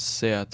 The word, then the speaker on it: SEAT: I just realized that it's pronounced Seat and not Seat, because it's like the Spanish car brand.